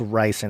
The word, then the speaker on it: ricin: Oh, it's ricin.